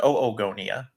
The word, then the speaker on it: oogonia: And then Alex Seaholm from not from the Midwest says, I guess it technically has 5 syllables since it's got 5 vowels, so you could pronounce it Oogonia.